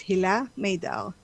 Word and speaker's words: Hila Maydar: our podcast today and did i did i pronounce your last name correctly yes it's hilah maydao awesome i you know my last name is